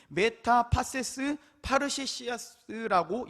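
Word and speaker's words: μετὰ πάσης παρρησίας: 이 담대히라고 하는 것은 메타파세스 파르세시아스라고 읽습니다.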